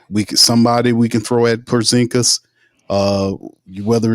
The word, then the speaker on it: Porzingis: how the hell Micah Peavey is guarding uh Pazinski. And wait, did I say his name right? Uh, talking about the the the unicorn. They gave him the nickname unicorn. Porzingis. Porzingis.